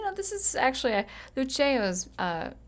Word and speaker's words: Luceo: on the scottish motto lucio uh lucio excuse me let me let me go ahead and pronounce this latin better lucio which is i shine